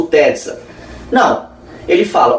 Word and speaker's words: Tezza: Porque essa obra do Tesa é uma obra, ou melhor, Tezza, né, que são dois Es, é uma pronúncia italiana, Tezza, é uma obra que